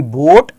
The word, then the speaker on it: boat: ए की साउंड नहीं आती है, ए साइलेंट रहता है. Okay, similarly we have more words here like load, soap, coach, loaf, BOAT, बोट, ROAST, रोस्ट, TOAD, toad, GOAT, गोट.